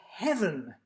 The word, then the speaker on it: heaven: we say glorious and we say heaven we know we stress the first syllable because we squashed this